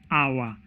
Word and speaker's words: hour: include words like our so our H is a consonant but when we are pronouncing that word we say our so it does not start with a consonant sound it starts with a vowel sound and therefore will not